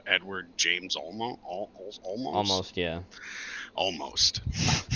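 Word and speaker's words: Olmos: Almost. I like almost is how you say his name.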